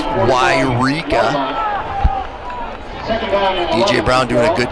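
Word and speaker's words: Yreka: Yes, it is pronounced Wairika.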